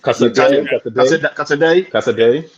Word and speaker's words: Casadei: I don't know how to pronounce that boy's name. Casadei.